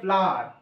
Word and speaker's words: flour: আর একটা ফ্লাওয়ার হয়, দেখো এটা কিন্তু ফ্লাওয়ার, উচ্চারণটা ফ্লাওয়ার, FLOUR ফ্লাওয়ার। আর একটা ফ্লাওয়ার হয় FLOWER, ওই ফ্লাওয়ার হচ্ছে ফুল, আর এই ফ্লাওয়ার হচ্ছে ময়দা।